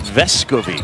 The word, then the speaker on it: Vescovi: He basically was letting everybody say his name wrong for the first little while, but the emphasis on the first part is what he said, Vescovi.